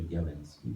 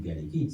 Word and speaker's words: Bialecki: La prononciation polonaise serait Białęcki, mais c'est compliqué. En France, nous sommes devenus Bialecki, c'est comme ça.